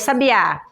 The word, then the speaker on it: sabiá: no primeiro a é porque a sílaba mais forte dessa palavra quando eu pronuncio é o o primeiro a primeira sílaba sábia e depois sabiá é a última sílaba Sabiá então a a e